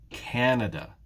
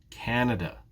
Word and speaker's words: Canada: in the word canada though which syllable is stressed in this case it's the first syllable it's canada canada ah but it's not